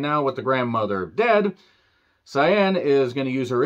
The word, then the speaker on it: Sayen: it wait for it a character named cyan I had to make sure that I got that pronunciation correctly not saying you know what I'm saying no chilean's saying here nobody going Super Saiyan just using Ingenuity and